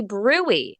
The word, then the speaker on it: bruit: You say, "Hey, doc, check for a bruit." It's spelled brute, B-R-U-I-T. Check for a bruit.